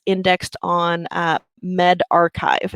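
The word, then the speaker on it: medRxiv: it's indexed on uh Med archive is how you pronounce that um so that's the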